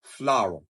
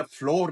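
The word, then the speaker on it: flour: this this word to this is फ्लावर फ्लावर आटे को कहते हैं फ्लावर वही प्रोनंसिएशन जो हम एफ एल ओ डब्लू ई आर की कहते हैं फ्लावर हैय फ्लोर नहीं होता तीसरा वर्ड है डी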